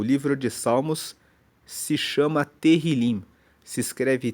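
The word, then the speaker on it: Tehilim: No original hebraico, o livro de Salmos se chama Terilim. Se escreve T E H I L I M e Terrilim significa louvores.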